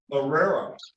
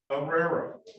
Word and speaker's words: Herrera: Next person I have is Manuel Herrera. You never pronounce the H in Spanish, correct? That is correct, Your Honor. Do not pronounce the H. Herrera. All right. Herrera. Herrera. Start from the E, Your Honor.